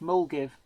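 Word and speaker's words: Milngavie: sire bond and Ian Ryan Milne Gavi is pronounced mul give oh the hoppy man UK oh good man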